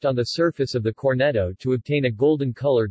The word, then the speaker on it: Cornetto: a Cornetto Italian pronunciation Cornetto meaning little horn is